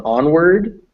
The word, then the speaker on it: onward: So on onward, make sure you actually get that D in there.